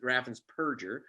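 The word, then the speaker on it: Raffensperger: show um but scumbag uh whose name is raffan's purger not burgers people mispronounced it really is raffins perger uh removed 198 000 people from the voter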